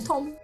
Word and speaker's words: Thom: it's spelled with it's THOM. Yeah, cool. Tom.